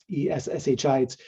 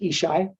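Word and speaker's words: ESSHI: Supportive Housing Initiative um es shites uh I've learned it's just pronounced ishai um which makes it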